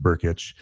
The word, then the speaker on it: Brkic: So we went out and got Gabe Burkic. It's Brkic, but it's pronounced Burkic.